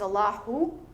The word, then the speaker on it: Allahu: the divine name or the name Allah has a H sound at the end. When you say it in full form, it's Allahu, right?